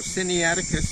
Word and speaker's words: Sinaiticus: in the Attic with a long boom so Cindy Atticus is pronounced sigh nae Eddie cut the fresh lines on the third syllable very